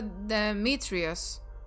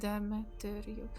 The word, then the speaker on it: Demetrius: But yeah, I think it's actually accent on third syllable from the end. Demetrius.